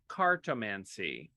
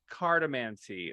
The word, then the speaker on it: cartomancy: a magical word called cartomancy ah yes or is it cardamancy or cartamency however you want to pronounce it cartomacy or cardamancy is